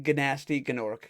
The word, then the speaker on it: Gnasty Gnorc: So, Nasty Gnorc, the big bad of the entire thing, or as they call him, Gnasty Gnorc, because Nasty Gnorc is spelled with G's.